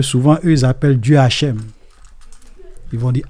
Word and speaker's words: Hashem: allez voir que souvent eux ils appellent Dieu Hashem. Ils vont dire Hashem. Hashem. Hashem. Hashem. OK. Parce qu'ils veulent pas prononcer le nom de Dieu.